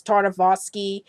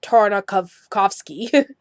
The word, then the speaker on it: Tartakovsky: his last name and I kind of miss Purdy as thar Navasky and it's really tartakov coughs key and yeah still struggling